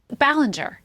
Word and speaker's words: Ballinger: Ballinger.